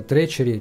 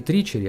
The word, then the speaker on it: Treachery: Ну, то же самое, «тречери» читается именно так. «Треч», не «тричери», а «тречери», который переводится как «засада», «предательство», ну, что-то нехорошее.